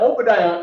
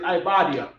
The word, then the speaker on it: Obadiah: Obadiah is Ibadiah, meaning it's really spelled with an I, but because Hebrew scholars was hired by King James to translate the Bible, right? They looked at the O, right, and they put O in I.